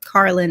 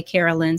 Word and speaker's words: Carlynn: So it's called Carlynn instead. But of course, people commonly mispronounce my name, and instead they'll say Carolyn.